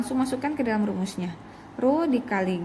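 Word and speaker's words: ρ: tekanan hidrostatis sama dengan ruh ini bacanya ru ru ini adalah massa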